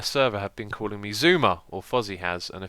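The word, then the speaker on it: Xisuma: is quite funny cuz when some people say my name it does sound like Zuma but you could call me exumer if you wanted to or exumer anyway monkey Farm's tree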